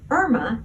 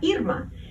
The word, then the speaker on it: Irma: I said, Hurricane Irma is an angry white woman, and that is her name, Irma, not Irma.